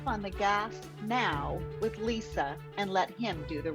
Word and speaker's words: Lysa: and introduce myself so my name is Lisa but it's spelled with a Y it's l-y-s-a and a few months